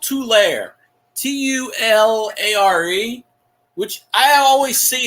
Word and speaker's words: Tulare: Tulare. I think you might have mentioned to Mary, but is that in Los Angeles? Oh, that's how you say it. Tulare. Oh, okay. Well, I mispronounced it.